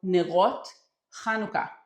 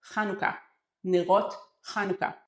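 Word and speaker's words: נרות חנוכה: And hanukkah candle is kanuka as we pronounce it. So when we go to the store and we are looking for hanukkah candles, we will look for nerot kanuka candles.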